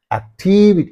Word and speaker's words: activity: means only this one therefore act activity activity you have to say Activity right and here f